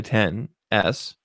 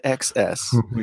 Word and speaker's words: XS: is pronounced 10S, not XS. Here we go. Here's the thing. Uh-oh. Okay. X means 10 in a dead language.